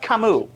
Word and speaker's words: Camus: Also, it's pronounced Camus.